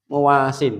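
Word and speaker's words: مُوَاسٍ: Isim fa'il yang menolong, tapi bacanya apa? Muwasin, tidak ada tasdidnya. Paham?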